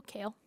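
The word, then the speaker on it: Kehl: And K-E-H-L, how are we pronouncing that? Like the vegetable, kale? Kale, okay, that's what I thought it was.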